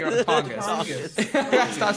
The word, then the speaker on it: Tongass: You know, if Bigfoot exists, it would probably live in the Tongass or the Great Bear Rainforest, which is next door in British Columbia.